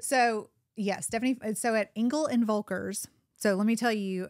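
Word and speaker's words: Engel & Völkers: yeah Stephanie so at Engle and vulker so let me tell you um it's German and it's hard to say Engle and vulkar Engle and vulkar um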